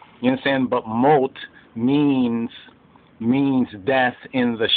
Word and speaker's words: Mot: m-o-t which means death some forms of the ashkenazi and sephardic actually have moth so almost like moss but moat insane but moat means means death in